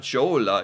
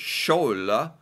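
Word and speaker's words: kjole: oh it's more it's it's not Jola it's schol see it's those very it's very very very subtle sounds that I really have to be paying attention to or or I completely miss it the J made me think Jo but a sh it's a sh dress yeah okay dress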